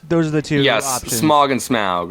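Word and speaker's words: Smaug: it pronounced several ways in my head it just comes off a smog like yeah like the air pollution asking the same question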